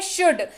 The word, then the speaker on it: should: बढ़ते हैं आगे, अगला शब्द है शुड, SHOULD, शुड, और यहां पर भी एल को कहेंगे चुप रहो और इसको पढ़ेंगे शुड, SHOULD, एल हो गया साइलेंट, पढ़ेंगे इसको शुड।